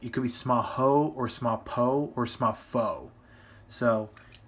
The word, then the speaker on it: Smapho: the Smaho football because the build driver actually pronounces it that way. So it's actually Smaho, or it could be Smapho or Smapo, whatever you want to say.